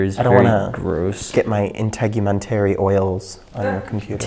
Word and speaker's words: integumentary: Get my integumentary oils on your computer. Integumentary, that's a big word. Integumentary. Rhymes with documentary. And elementary.